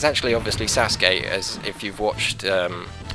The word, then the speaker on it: Sasuke: Naruto's uh anime there because I used to pronounce it saysuke but it's actually obviously Sasuke as if you've watched um Naruto or you've